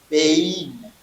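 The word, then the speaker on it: בין: Je n'ai pas dit ben, pas je dis bein.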